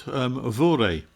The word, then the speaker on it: vore: And finally I've got vore. Pronounced vor these days, which means simply to eat.